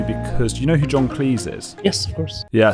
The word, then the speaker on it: Cleese: rhyming with fleece and it actually rhymes with cheese and he says he